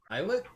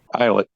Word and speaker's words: islet: is a rocky islet eyet eyet eyet s is silent and Island and isle is eyet yeah that's one that